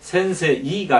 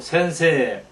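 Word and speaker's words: せんせい: 2는 앞에 말에 장입니다 그러니까 센세이가 아니고 센세 센세 이렇게 됐다는 겁니다 따라서 3번 자 기무라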